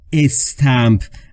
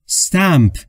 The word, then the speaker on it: stamp: دوستان توجه بکنید تلفظ stamp، نگفتم استمپ، اولش ا نداره، پس تلفظش رو دقت بفرمایید. stamp stamp.